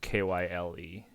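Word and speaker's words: Kyie: k-y-i-e yeah okay um still pronounced Kyle though yeah it's it's fresh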